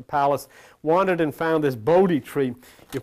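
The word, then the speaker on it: Bodhi: stable at the palace wandered and found this bod tree you pronounce as b o d h i in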